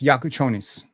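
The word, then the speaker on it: Jakučionis: So it's Yakuchonis. There we go. So Kasparis Yakuchonis. You would think I'd be better with these pronunciations, but Lithuanian names have given me trouble for quite some times.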